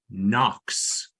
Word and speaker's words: Knox: second code word is Knox which starts with the letter k it's a silent k right the second code